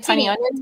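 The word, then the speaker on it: Tynion: Like Tiny Onion?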